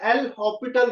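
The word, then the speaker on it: L'Hôpital: इसमें एस जो होता है वो साइलेंट होता है। We pronounce it एस एल हॉस्पिटल rule. It इज नॉट हॉस्पिटल हॉस्पिटल rule.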